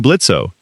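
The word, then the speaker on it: Blitzø: I'm Blitzo. The O is silent, much like your terrifyingly effective method of communication.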